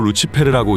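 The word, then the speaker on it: Lucifer: 루시퍼는 라틴어로 루치페르라고 읽으며 빛을 가져온 자라는 뜻이라고 하죠.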